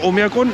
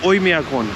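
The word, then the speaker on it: Оймякон: ओया ओई मिया कौन मैं अब तक प्रोनाउंस कर रहा था ओमिया कोन लेकिन एक्चुअल में इसका नाम है ओमिया कोन यहां के लोग ऐसा बोल रहे हैं भाई टेंपरेचर है ना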